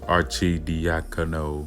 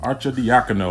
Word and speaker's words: Arcidiacono: And to give out some value, I know you like Ryan Arcidiacono. Arcidiacono.